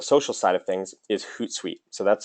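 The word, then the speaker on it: Hootsuite: more on the social side of things is hoot site so that's spelled h t like hoot hoot h o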